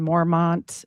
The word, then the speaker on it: Mormont: And which did what, sold their monastery in Mormont, or it's pronounced Mormon because it's French. Don't put the T on.